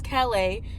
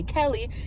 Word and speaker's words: Calais: I just know my name is Calais, and sometimes they spell it K, like, or sometimes they say Kelly.